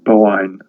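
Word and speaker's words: Boann: a d on the end um it's actually pronounced um bowen so she becomes the river boyne she's the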